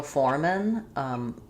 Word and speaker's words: foremen: And there are several foremen, same pronunciation. So you need the context to tell you whether it's singular or plural. So it's going to sound like foremen.